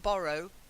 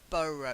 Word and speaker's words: burrow: The first one is to burrow, not borrow, burrow. You've got to get an sound.